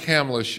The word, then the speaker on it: Hamlisch: i must say with with a name like hamlish and the first name you know first the syllable is ham the idea of hearing